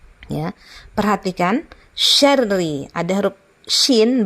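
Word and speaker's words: شَرِّ: Nah, kemudian syarri, ya. Perhatikan syarri, ada huruf shin bacanya syarri. Min syarri ma khalaq. Nah, syarri itu bacanya ditahan syarnya, ya. Kemudian ri-nya tidak boleh dipanjangkan.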